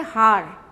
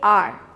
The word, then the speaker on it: hour: silent we don't say har we say r so though the spelling is h o u r we don't say how we say r so where the letter h is silent you do use an